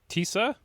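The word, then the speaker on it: Tisza: Um, Peter Mager's uh party u tissa I guess is how you pronounce t i z a and I know sz makes a s.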